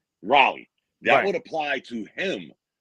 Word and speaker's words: Raleigh: Raleigh. Raleigh.